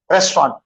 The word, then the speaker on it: restaurant: तो रेस्टाउ बोल तो फिर आपको 3 syllable जाते हैं. वो 3 नहीं है इसके, 2 ही है इसके अंदर. Restaurant.